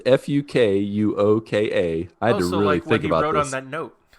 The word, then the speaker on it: Fukuoka: I have to be really careful how I pronounce this. But if you ever want to visit Fukuoka, Japan, it's Fukuoka.